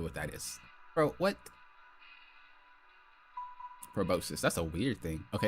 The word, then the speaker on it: proboscis: Proboscis.